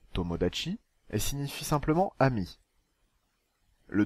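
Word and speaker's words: 友達: Il se prononce tomodachi et signifie simplement ami.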